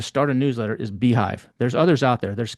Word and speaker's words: beehiiv: Beehive, if you're going to do it, and it's spelled kind of weird.